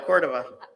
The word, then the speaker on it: Cordova: Everybody wins if we pledge, sung to He's Got the Whole World in His Hands, words by Colette Cordova. Rhymes with Florida. There we go, Cordova, Florida.